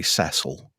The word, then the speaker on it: Cecil: I like how you Americans say Cecil. Cecil. Sounds like sea salt.